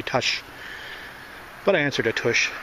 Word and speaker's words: Tush: And Dan Electro, I know you were asking about the pronunciation of my name. It's actually Tush.